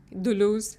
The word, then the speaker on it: Deleuze: Primeiro que a Risoma primeiro pesquisa assim quem foi Dele Leus Dulus, a pronúncia francesa, Guatari, depois sobre a